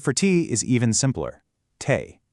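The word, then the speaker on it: թեյ: Tay. It's pronounced tay. I mean, it sounds almost exactly like tea, which makes it super easy to remember.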